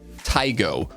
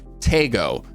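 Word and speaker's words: Taego: get the new map tygo or as pubg now pronounce it tago so i think we're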